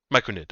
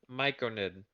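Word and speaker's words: Myconid: it oddly and it pops up it goes Mike Noid m-y-c-o-n-i-d micro knit I'm sorry I mispronounced that okay micronate is there an r no there's r no miconid Michael yeah they're mushroom people look at Zeus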